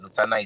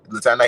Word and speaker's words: Lotana: Lutana is spelled Lotana.